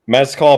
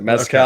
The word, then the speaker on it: Mescal: Mezcal, probably like the smoky tequila is how I would pronounce it. Mezcal.